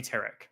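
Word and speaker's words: Tarak: I pronounce it as TK.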